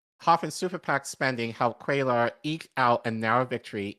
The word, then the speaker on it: Cuellar: successfully went in huge for Texas Democrat Henry Cuellar. Hope. I'm not sure that's how you pronounce it, but whatever. Who opposed Biden's gun control legislation and continues to oppose him on guns. No, it's Cuellar.